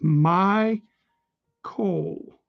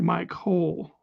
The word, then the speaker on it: Mycol: I assume that it's pronounced Michael. I don't think anyone would say Michael. I mean, his name could be Mike Hole, but it's my Cole, not Mike Hole.